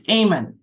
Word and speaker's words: Eamon: Is it Eamon? It's Eamon.